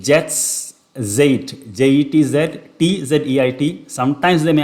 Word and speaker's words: Jetztzeit: I don't know how to pronounce it. It's Jetztzeit, J-E-T-Z, T-Z-E-I-T.